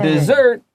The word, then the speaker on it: dessert: So dessert it's expensive, so it has $2 signs. 啊，所以说今天要2个硬币，2个 s，这样的话才可以买得起 dessert 啊。重音化也在后面那个音节 dessert。如果你要讲的是沙漠，它会念成 desert，会只有一个 s，要特别注意哦。